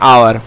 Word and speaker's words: hour: Delivering a speech आपने बिल्कुल सही बताया, फॉर एन आवर, फॉर एन आवर। Okay, याद रखिएगा एन आवर होता है ANHOUR, क्योंकि आवर जो होता है उसमें बोलने पर एच साइलेंट हो जाता है, तो क्या